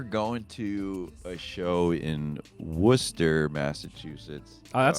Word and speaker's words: Worcester: I remember going to a show in Worcester, Massachusetts. Oh, that's how you pronounce it.